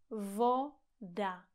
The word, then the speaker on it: voda: Voda. Voda. Pozor, není to vou, ale o. Vo. Voda.